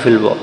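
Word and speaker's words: ف: আমরা কফ দেখতে পাচ্ছি এই একই সিস্টেম একটি ফোটা যদি উপরে থাকে তার নাম হচ্ছে থা আর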